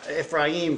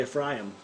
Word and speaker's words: Ephraim: in the name of the second he called ephraim i've been saying you know if rain for a long time but actually the the pronunciation i looked at him strong closer is actually a fry them fry them yeah like e p h f